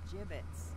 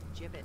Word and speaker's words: gibbets: some gibbets left over jbits what it's pronounced jibit are you sure yeah